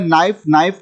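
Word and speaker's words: knife: है उसके बाद में नाइफ का मतलब होता है चाकू नाइफ में के साइलेंट है हाई में जी और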